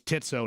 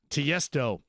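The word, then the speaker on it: Tiësto: I used to count it was Titso to me, and then I had to fix it. Tiesto.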